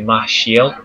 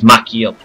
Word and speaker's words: Machiel: Yeah, most people say Machiel, which is the way you read it, but apparently it's Machiel with K.